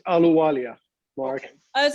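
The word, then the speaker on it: Ahluwalia: But we're joined by candidate for Lieutenant Governor Puneet Alawaja, and I assume you regularly get asked what the appropriate pronunciation of that is. It's Aluwalia, Mark.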